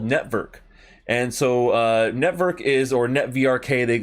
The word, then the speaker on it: NETVRK: network and so uh network is or netvrk they some people will say but i think it's network and that's how i like to pronounce it it's an ethereum based